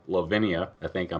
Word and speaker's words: Levinia: man you're the vocalist for a band called Lavinia I think I'm pronouncing that right you are pronouncing 100% correct